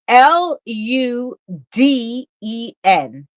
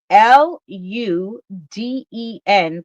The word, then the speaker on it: Luden: It's L U D E N. L U D E N. But it's pronounced Luden.